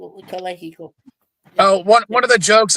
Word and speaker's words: Calexico: You don't pronounce the X. You just go Calexico. Calexico.